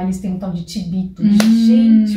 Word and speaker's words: chivito: E lá eles têm um tal de tibito. Gente, o que é aquele tibito? Se escreve chivito com CH.